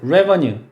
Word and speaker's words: revenue: 다음에 약간 난이도가 있는 단어로 expenditure 그리고 반대말로 revenue가 아니고 반대말 얘는 어떻게 읽냐면 이름절에 강세 있어요. revenue. revenue라고 읽는데 얘가 수입이나 세입이고요.